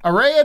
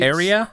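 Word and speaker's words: Aerea: does it sure uh got ARA deluxe edition assume that's how you say it is out digitally area I would say area are area a e r e a deluxe edition out digitally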